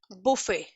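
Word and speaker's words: buffet: जैसे बुफे। ठीक है, ये बफेट नहीं हम इसको पढ़ते हैं बुफे, टी is always silent, बुफे।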